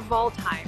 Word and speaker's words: Waldheim: Today we are in Waldheim Cemetery, or Waldheim for the German pronunciation.